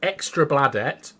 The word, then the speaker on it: Extra Bladet: So there's a newspaper, and it's called Extra Bladet, which, don't worry, is the perfect pronunciation of that.